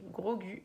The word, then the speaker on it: Grogu: Et donc Grogu, donc ça se prononce avec un G-O-U à la fin, mais ça s'écrit donc G-R-O-G-U. Voilà, ça s'écrit Grogu, mais ça se prononce Grogu.